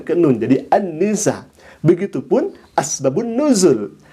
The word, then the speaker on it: asbabun nuzul: Begitupun asbabun nuzul. Asbab al-nuzul itu ditulisnya, tapi dibacanya harus asbabun nuzul. Ini menandakan bahwa orang ini tidak bisa mengidhofatkan, menyambungkan antara asbab dengan an-nuzul. Harusnya disebut asbabun nuzul.